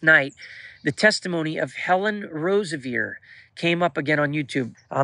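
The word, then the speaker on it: Roseveare: Last night, the testimony of Helen Rosevier came up again on YouTube. Helen Rosevier, it's spelled Rosevere, who went and ministered down in Africa, and she ended up being raped twice.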